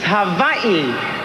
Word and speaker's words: Hawaii: Madam Secretary congresswoman psyche what did you say was the correct pronunciation of our state it's Havi Havi Aloha the land of